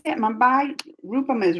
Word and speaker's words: Mumbai: Mumbai?